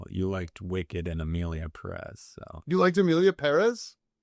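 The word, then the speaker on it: Pérez: say anything about Emilia Perez. I think I put the emphasis on the first syllable because it has the accent mark. My wife said that was correct, and she speaks Spanish for a living.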